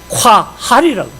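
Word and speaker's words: קהל: 구약이라는 단어는, 이 교회라는 단어, 에클레시아라는 단어는 구약에서는요, 콰할이라는 단어를 써요. QAHAL, 콰할이라고 발음.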